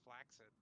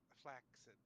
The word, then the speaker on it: flaccid: And with a flaccid 20, he is going to hit. It's pronounced flaccid. You're It's right. flaxseed. Sorry. Flaxseed Nope, 20. different word. Close though. But yes, flaccid.